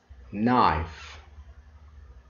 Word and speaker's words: knife: gets only one rule k is not pronounced when it comes before an n later at the beginning of a word let's have an example kids knife knight nate this is